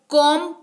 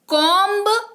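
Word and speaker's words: comb: आज तक जी हां इसको कॉम पड़ते हैं कोंब या कोंब नहीं पड़ते हैं नहीं बोलते हैं अगला है चीनी ऐड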